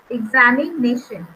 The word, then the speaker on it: examination: So we have over here examination. So here it is the secondary stress is being given to the exami word and syllable, and then the primary is given to nation.